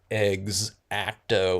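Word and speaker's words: X-Acto: um he says yeah everyone pronounces it and he wrote eggs acto like you know like chicken eggs anytime I'm working with the xao blade I think it is eggs acto all right it was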